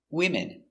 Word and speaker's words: women: no women's no s we change their pronunciation again one woman and three women let's look closer at the pronunciation pronunciation 1 woman w w w w m w w uh W woman woman one woman two w i m wh I wom n women women two women three women four women so